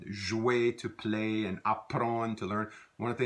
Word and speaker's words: apprendre: One of the things you'll hear is like that DRE verb in Louisiana French tends to be not pronounced. It becomes, we just kind of extend that nasalized vowel sound, apprendre.